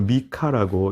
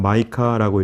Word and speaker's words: 미가: 번째 명칭에 대한 부분입니다 미가라고 하는 말은 히브리어를 미카라고 이렇게 발음이 되는데 그 뜻은 누가 여호와와 같으신가 그런 뜻입니다 누가 여호와와 같으신가 영어로는 마이카라고 이렇게 부르고 또 우리말로는 선지자 이름 그대로 미간하고 이렇게 명명되어 있습니다 요즘 저희가 살펴보는 선지자들이